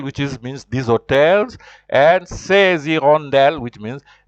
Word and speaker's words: hirondelles: And then also hirondelle is the H is considered silent, so you join, you say ces hirondelles.